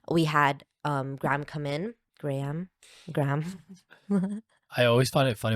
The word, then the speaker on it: Graham: Graham. I always find it funny when people pronounce Graham as It's Graham. Graham. It's not Graham, It's it's Graham.